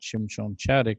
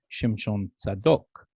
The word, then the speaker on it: Shimshon Chaddock: but by people so my name is actually not chun chatic it's shimshon zadok which is the name righteous the descendant of zadok so there's still things